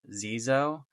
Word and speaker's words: Xezo: you can see on this box is pronounced Zoo what I've seen from